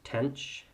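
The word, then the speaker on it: tanh: tangent um but these are Kosh cinch and tanch um so just as a quick pronunciation Kos seems fairly obvious the sign with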